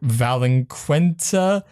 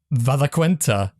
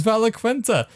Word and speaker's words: Valaquenta: And with that, what's it, Valinquenta? If I say it right, yeah, Valaquenta is over. That is Valaquenta.